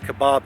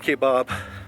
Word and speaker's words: Kaibab: Alright, now we're checking the South Kaibab Trail. This is actually where we're going to start our hike tomorrow. South Kaibab, down to North Kaibab, and then most likely back.